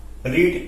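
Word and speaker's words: read: फिर वर्ब की third form, रीड का third form, रीड, रेड, रेड। Spelling same रहता है, प्रोनाउंसिएशन डिफरेंट हो जाता है।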